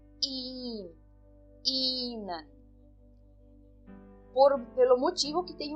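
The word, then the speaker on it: ihnen: que esse e h eu não pronuncio o h nessas três palavras tá eh e também eu eh pronuncio de uma forma longa então eu falo ir in inan por pelo motivo que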